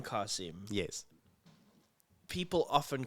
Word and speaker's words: Qasim: It's the Arabic, the way you say it, and the name is Arabic. Yeah. So if the name is Arabic, say it like it's supposed to.